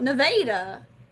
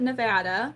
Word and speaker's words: Nevada: In Missouri, they call it Nevada. Like straight up, that's how they pronounce it. Nevada, Missouri. Not Nevada.